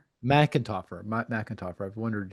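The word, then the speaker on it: McEntarfer: Uh, and can I ask how do you pronounce her last name? Erica McIntoer. Macintoer.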